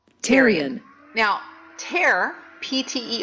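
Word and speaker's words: pterion: region pan No tyon even though it starts with a P let's pronounce that teron now te PT R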